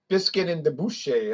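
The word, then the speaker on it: Bisquit Dubouché: And it's going to be the doggone Biscuit and Dubuque. Biscuit and Debouche. That's how you pronounce it.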